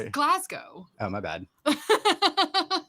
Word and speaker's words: Glasgow: correct me but I'm pretty sure it's Glasgow wait Earl Meister well you should know how did how is it pronounced you live there um Glasgow there you go yeah yeah oh crushes